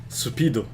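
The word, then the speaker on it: スピード: Oh, he doesn't, in Japanese, he doesn't say speed up, he says speedo. Supido. Supido. Because that's basically how they pronounce speed over there.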